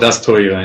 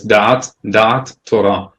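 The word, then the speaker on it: דת תורה: It's usually called Das Torah in the Ashkenazi pronunciation, but it's dat Torah, and the knowledge of Torah.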